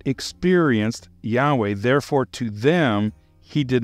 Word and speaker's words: Yahweh: Yahweh. Not only do I believe that's the closest pronunciation according to all the evidence that I can find, but quite frankly, I like the way it comes out. Yahweh.